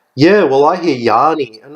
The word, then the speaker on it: Yanny: hear they never even pronounce it how it sounds which is rhymes with fanny that's exactly how it sounds except with the why it's oh yeah they pronounce yeah well I hear Yanni and it's like how